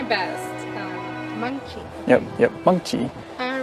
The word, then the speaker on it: Mengqi: Meng Qi, that's how you pronounce my name. It's actually Meng Qi, and it has tone to it. Meng Qi.